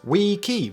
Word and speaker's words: wiki: wiki wiki so finally how is it originally pronounced well that was we key rather than the more common wiki however given the popularity